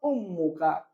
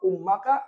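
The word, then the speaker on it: أمُّكَ: dah karena Isim mufrod maka bacanya safarot umuka bukan safarat umaka atau umika tapi safarat muk karena dia sebagai fail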